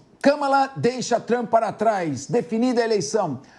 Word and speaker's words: Kamala: Agora, Luiz Augusto Durso, para não errar a pronúncia, fala é mala. Pronto, Kamala.